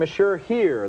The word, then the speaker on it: Monsieur Hire: murder suspect our next movie is named mashur here that's spelled h-i-r-e and this is one